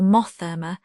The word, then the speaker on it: Monthermer: Hugh, Lord of Monthermer or Mothermer, as it was generally pronounced, and whom, as his